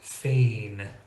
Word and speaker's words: feign: ends of words like feign trying to say fig would be much more challenging so it's just a simple n Sound with the G silent now I hope you